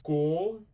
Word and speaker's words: continuar: So when you're pronouncing this one, it's continuar.